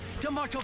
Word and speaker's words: D'Marco: Yes, that's how I like my name pronounced. What's like that. Like Crowd Chris said it. DeMarco.